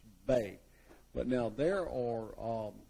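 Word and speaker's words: bez: And then these are called the bay. Uh is spelled be z, but it's pronounced bay.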